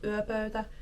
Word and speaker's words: yöpöytä: So as you can see from my pronunciation of yöpöytä, she gives a lot of good tips.